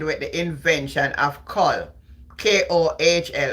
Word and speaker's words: kohl: Kohl. How you pronounce it? Kohl, I say kohl.